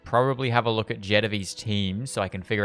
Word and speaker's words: Jetavie: And I know there is one of these that's really good for Jedvy. That is how her name is pronounced.